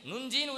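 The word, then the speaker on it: نُنجِي: எனவே தான் அந்த விடப்பட்ட எழுத்தை ஆனால் உச்சரிக்கும் போது எப்படி உச்சரிக்கணும்? விடப்பட்ட எழுத்தை சேர்த்து தான் உச்சரிக்கணும், நுஞ்சின்னு உச்சரிக்கணும். அந்த நுஞ்சி என்று உச்சரிக்க வேண்டும் என்பதை இங்கே சொல்லியிருக்கிறாங்க. இப்போ இன்னொரு விஷயம் என்னன்னா, நான் நுஞ்சியில் தெளிவாக ஒரு விஷயத்தையும் சொன்னேன்.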